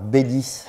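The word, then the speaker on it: Beilis: importance qui est connu sous le nom d'affaires bellis alors bellis ça s'écrit behe crie elle y s et l'iss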